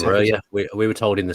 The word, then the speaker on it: Broja: Because I think it's also Broja when he pronounced it. I think we've been told it's Broja.